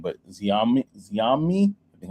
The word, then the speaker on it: Xiaomi: So basically, there's a company called, and I probably butchered the name, but Xiaomi, I think how you pronounce it. It's XAIOMI. Basically, they launched Xiaomi. Xiaomi.